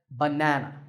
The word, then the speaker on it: banana: there are three which is stressed the second banana here's one final example